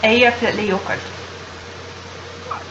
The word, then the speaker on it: Eyjafjallajökull: Eyjafjallajökull.